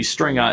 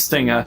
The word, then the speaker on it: Stinga: I think I either mispronounced it or someone called me Stringa instead of Stinga, and it was actually originally a joke.